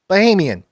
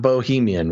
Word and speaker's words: Bahamian: Bahamian. Okay. But not Bohemian, which is what you first said.